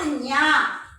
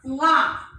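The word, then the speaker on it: ङ: How to pronounce that? Not Nya. Nga. That is.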